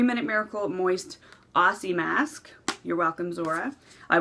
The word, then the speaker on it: Aussie: Apparently I pronounce it Ozzy. No, apparently I pronounce it Ozzy, like Ozzy Osbourne. But she wants me to say Aussie.